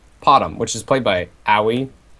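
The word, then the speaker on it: Aui_2000: And then on the other side we have farming Potom, which is played by Aoi. Or AUI, I think is the correct way to say it, 2000.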